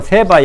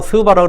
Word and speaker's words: 세바: 여기서 말한 남쪽 여왕이 누구냐면 열왕기상 10장에 나오는 세바 여왕입니다. 세바라고 그러도 스바라고 그러고 시바라고 그러고 한국 사람들 발음을 이게 모음이 막 다 다르더라고요.